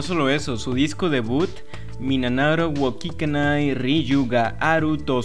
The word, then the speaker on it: 3776: 3776, pronunciado Minanaro, es una dupla formada por el compositor y productor Akira Ishida y la vocalista Chiyono Ide.